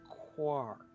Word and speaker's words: Quark: I know but the house of quirk it's pronounced quack quark but yeah I also yeah I'm the best